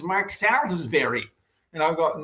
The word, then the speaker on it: Salisbury: "Oh, it's it's Mark Slesbury." And I'll go, no, if you were in London, it would be Soulsbury, right?